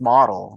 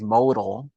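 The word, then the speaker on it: modl: I went, "No, it's model. It's M O DL." Which half the people still mispronounce as modal.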